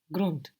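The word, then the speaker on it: Grund: you might say ground grunt grunt good g r u n d and that D pronounced like a t grunt round grun run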